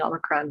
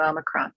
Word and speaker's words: omicron: do you pronounce it good housekeeping says that there are four common ways to say it omicron is a greek letter and since the pfizer ceo is from greece the wall street journal put up a video of him being asked to pronounce it he says omicron three months ago i